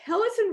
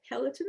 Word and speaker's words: peloton: i'm also interested in a foodie and a pelican rider is that how you say it peloton yes because yeah yeah tell us it's a